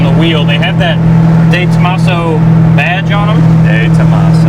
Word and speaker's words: De Tomaso: It's not day tomato. It's definitely day Tomaso. He asked me how to pronounce that when we started this video.